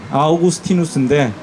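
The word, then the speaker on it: Augustinus: 기독교 신학자들 중에 어 지금으로부터 한 1500년 전에 살았던 어그스틴이라고 하는 아오구스티누스인데 어 우리는 이제 미국을 좋아하니까 미국식 발음으로 어거스틴이라고 불러요.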